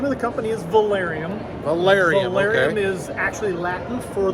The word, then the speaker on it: Velarium: here looking at new awnings Jeff tell me pronounce the name of the company the name of the company is Valerian Valerian is actually Latin for the term awning